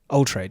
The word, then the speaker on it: Altraide: Altraide, yes.